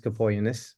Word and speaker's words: Capogeannis: And if you can say your name just so everybody has the real pronunciation, I try. Thanks, Bob. artist dominus Capogeannis.